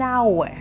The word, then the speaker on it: hour: like an apple, an hour, an interesting story. Funny fact, hour starts with an H, but H is silent, so it actually starts with a vowel sound, making it an hour.